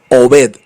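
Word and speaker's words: עבד: la palabra siervo y encontré que la palabra siervo en hebreo se dice Obed Obed Obed o b e d obet se tradujo obet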